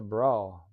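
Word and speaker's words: Brough: that's not That's a bro. Bro, bro, bro. I don't know how else you would uh pronounce that. B R O U G H.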